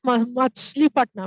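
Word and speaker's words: Machilipatnam: কোচি, দামন, পুলিকাট, মাছলিপাটনাম। এটা আছে, মাসুলিপাটনাম আর মাছলিপাটনাম একই, ঠিক আছে। আনসার ইজ ডি, মাছলিপাটনাম বা মাসুলিপাটনাম, নানাভাবে প্রোনাউন্স করা যেত।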